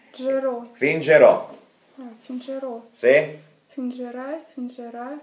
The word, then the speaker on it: fingerò: Finterò? No. Это fingere, no fintere. Fingere. Fingo. Ma fingo è настоящее время. Ero a canzagne. Fingerò. Не так произносится. G. Fingerò.